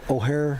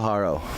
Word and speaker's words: Haro: I never say the kicker's name right. O'Hare. Oh, Angel Haro.